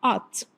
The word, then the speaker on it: ought: Observe que a pronúncia, Ela tem uma palavra grande, mas a pronúncia é só ought.